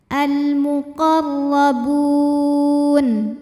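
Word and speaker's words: المقربون: Huruf ra dibunyikan secara tafkhim karena ra-nya ini berbaris di atas yaitu baris fathah. Cara membacanya ditebalkan, pangkal lidah dinaikkan. Al-muqarrabun.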